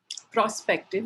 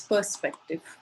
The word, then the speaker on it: perspective: good usages and words the word perspective was mispronounced um as prospective it's perspective um not prospective um somebody said by